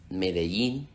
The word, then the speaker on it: Medellín: is perfectly understood if whenever you see the double LL, you use the pronunciation of the Y, whatever you want to use.